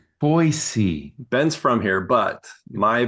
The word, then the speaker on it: Boise: And you guys, is it Boise SE or ZE? How do you pronounce it? Just for the foreigners who are listening to us right now. Oh, children. It's I always say it Boise.